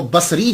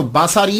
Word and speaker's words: بصری: وہ کہا جاتا ہے۔ لیکن ایک بات یاد رکھیے گا کہ جب آپ اس کو تلفظ کریں گے تو باساری نہیں کریں گے، سواد کے اوپر زبر نہیں پڑیں گے۔ اگر آپ نے سواد کے اوپر زبر پڑا، باساری بن گیا، تو اس کا معنی